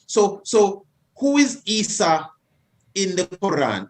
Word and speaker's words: Isa: Jesus in Arabic is Isa. Mm-hmm. Now, it's spelled I-S-A. Mm-hmm. The Isa in the story of Jacob and Esau is E-S-A-U. But it's still the same phonic sound.